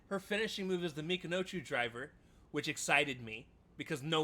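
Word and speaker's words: Michinoku Driver: Joe Tessitore, by the way, named the right move with the Mikinochu driver, but he mispronounced it because he was so excited. I want to say, I think he called it the Minakoju driver, if I remember, or something along those lines.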